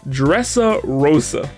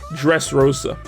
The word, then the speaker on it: Dressrosa: ] it up so the last word is dressa rosa which is actually pronounced dressrosa i honestly have no